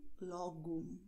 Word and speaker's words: logo: Und O am Wortende wird als U ausgesprochen. Das heißt, obrigado, como, logo.